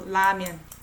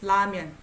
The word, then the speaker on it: 라면: So when I say 라면, okay, for example, 라면, it's more like I relax to the upper teeth, 라면.